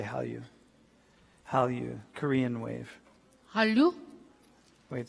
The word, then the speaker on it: Hallyu: Hallyu, Korean wave.